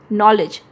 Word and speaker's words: knowledge: जैसे नॉलेज की स्पेलिंग क्या हो जाती है, KNOWLEDGE, नॉलेज। तो क्या हम नॉलेज बोलते हैं, के से शुरू होता है, नहीं बोलते। के यहाँ पे साइलेंट लेटर होते हैं।